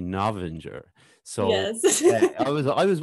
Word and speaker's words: Novinger: i was like well it's either novenger or novenger and then it's it's actually navinger so i was i